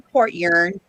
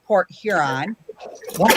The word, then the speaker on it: Port Huron: that i live in port yearn port heron you know they call it port yearn and it's port huron you said something crystal